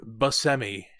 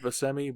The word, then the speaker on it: Buscemi: And this is how apparently you pronounce his name, Steve Buscemi. Steve Buscemi? Buscemi is probably more commonly said, but apparently that is with the Italian pronunciation, which we've been studying our Italian, so we'll go with Buscemi for the purpose.